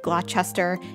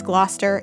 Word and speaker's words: Gloucester: talking about it's like if you say glochester in here in massachusetts and it's gloucester it's a whole thing